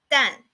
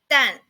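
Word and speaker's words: 旦: And the pronunciation of it is 淡. 淡.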